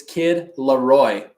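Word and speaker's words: Kid LAROI: to say his name nah it's kid Laroy kid Laroy see I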